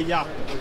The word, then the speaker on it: Yakta: correct way to say the brand I say yaka yeah yaka got it right I got it